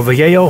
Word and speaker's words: Vallejo: And with Vallejo, or Vallejo, how it's pronounced, I recommend only using their thinner.